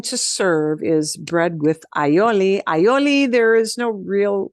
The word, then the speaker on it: aioli: a typical thing to serve is bread with aioli aioli there is no real well it's like